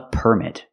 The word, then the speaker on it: permit: Now let's talk about a permit. Remember, the stress is on the first syllable. Permit.